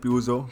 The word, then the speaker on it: Peugeot: कुछ लोग कहते हैं प्यूजो, कुछ लोग कहते हैं पर्जर, और गूगल में पर्जर बोल रहे हैं, तो हम भी वही बोलेंगे Peugeot.